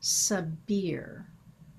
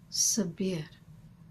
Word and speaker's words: Sabir: Now, in English pronunciation, we tend to say Sabir. Yet in Arabic, the pronunciation sounds like Sabir, which transmits a quality of air in the vowel sound of the last syllable.